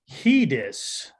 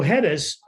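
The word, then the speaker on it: Headis: it correctly or not it is hedis it is spelled h-e-a-d-i-s I I think you know I think we make more sense if it was hedis like letters yeah okay right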